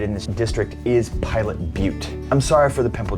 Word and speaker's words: Butte: Pilot Butte, it's pronounced Butte, okay, is, well, check this out.